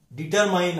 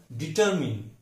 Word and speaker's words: determine: DETERMINE, डिटरमाइन हम रोज की यूज में बोलते हैं, लेकिन उसका सही उच्चारण डिटरमिन।